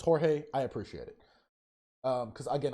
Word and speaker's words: Jorge: Also, thank you guys for letting me know that it's Jorge. I appreciate it. Because again, I do not want to get his name wrong.